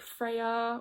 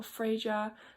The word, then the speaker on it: Freya: you also had like Freya or frager there's different ways of pronouncing um her name and there was also